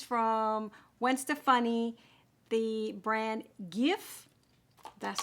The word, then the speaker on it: GXVE: So today is an episode of a new just launched product, and this is from Gwen Stefani, the brand GXVE. That's how it is pronounced, but it's spelled GXVE.